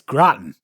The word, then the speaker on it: Groton: It's Groton. Groton. Just imagine it being pronounced with an Australian accent.